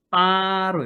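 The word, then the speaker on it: 八: 이 8의 발음이 빠로 읽어요.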